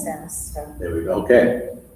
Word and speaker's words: SaaS: It's pronounced SAS, so.